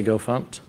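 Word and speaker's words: gofmt: pumped and go fix so the first one's go pump that that's how we pronounce it if you say it the other way it's okay but we say go funked and what go pump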